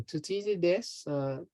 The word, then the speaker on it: Thucydides: Well, how do you pronounce the name of this philosopher? Thucydides.